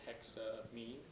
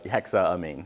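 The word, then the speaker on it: hexaammine: you mean so like I would naturally want to say hexa me rather than hexa am there's two a uhuh so so I'm I'm not sure you you should if you're going to pronounce it correctly you're going to use both A's okay so hexa a me yeah okay so CIS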